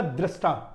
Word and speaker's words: द्रष्टा: यह द्रष्टा, द्रष्टा होगा. आपको 'r' का उच्चारण सीखना होगा।